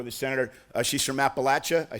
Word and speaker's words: Appalachia: uh background for the senator uh she's from Appalachia I said that right didn't I Appalachia uh we nobody pronounces Appalachia to her satisfaction apparently glad to